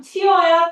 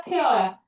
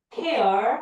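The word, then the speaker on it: tear: 티어야. 태어야. 태어. 알겠죠? 단어는 눈물이랑 똑같은 단어가 왔는데 발음이 태어예요.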